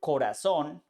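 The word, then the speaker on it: corazón: stress the syllable instead for example Corazon in this case it has the accent in the last silo the same with this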